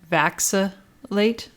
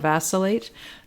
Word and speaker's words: vacillate: pronounce this because i part of me wanted to say vaxa late instead of vacillate because i was thinking of vaccines i think they're just